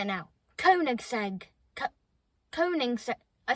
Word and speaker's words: Koenigsegg: Koenigsegg. Koenigsegg. Koenigsegg. Koenigsegg. I've learned how to say it now. Koenigsegg.